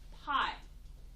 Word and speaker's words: pi: So in math, we use this Greek letter from the Greek alphabet, and it's pronounced pi.